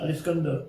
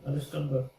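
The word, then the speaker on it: الإسكندر: How do you say it in Arabic again? Al-Iskandar. That's it, Al-Iskandar.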